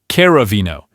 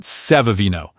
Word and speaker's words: Caravino: See how that C is followed by an E? That's our trigger. So it's pronounced Caravino. It's absolutely not Sevavino. Think about it. If they wanted an S sound, they just spell it with an S.